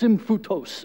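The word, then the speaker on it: σύμφυτος: on the screen is this Greek word it's pronounced simbu tous everyone say sim foote dos go you just spoke ancient Greek that cool yeah fellow nerds we think that's cool that just play along so sim photos it's this it's this Greek word and you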